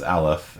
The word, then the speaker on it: aleph: what that means and anyone know how you pronounce that the n n zero alef no nobody was gonna go with aleph on that one yeah that is uh that is aleph and because there's a